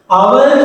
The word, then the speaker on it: hour: our කියනකොට මෙතන h අකුර silent letter එකක් නේද? ඒක pronounce වෙන්නේ නැහැ. pronounce වෙන්නේ our කියලා.